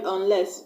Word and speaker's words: unless: level is a previous let's look at the word unless un l es s un l es s un is a previous so I'm not gonna stress on the preface we are done but the stress on the second syllable ress this note that a